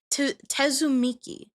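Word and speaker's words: Tsumiki: Tezzumiki. I hope I'm pronouncing that right. Not Miko, it's Miki.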